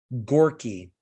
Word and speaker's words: Goerke: they were led by Dr. Andrew Gorky. So his last name is spelled Goerke.